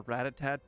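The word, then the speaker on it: Rattata: oh I'm sorry I I taught myself it was called ratat and uh it's never never going to not be ratat war ratat ratat ratata no just ratat that's how I read it that's how it that's how it shall forever be known orad ratata well everyone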